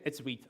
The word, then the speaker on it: Vite: How do you pronounce Vite or Vite? Which is right? It's Vite. I'm sorry. I know. I'm sorry. I know it doesn't really feel like it, but that's what it says in the official docs.